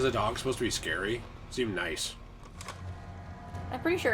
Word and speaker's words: Sker: no that makes sense scare point no it's pronounced scar scar sounds like a